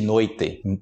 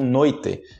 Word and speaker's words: noite: noite ok existe noite tem pessoas no Brasil e regiões que falam noite a nossa já tá ficando Já é noite noite leite e outras regiões que falam noite eu falo noite mas a minha região não falam noite Fala um noite boa noite Na noite Na noite Na noite nessa como bem pin e tem essa mais puxada que é noite a noite com muito chiado isso é fiel que